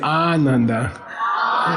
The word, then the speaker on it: Ananda: You gotta say Ananda. That means the guy who's very happy. Okay, long A in the beginning means very. Short A means not.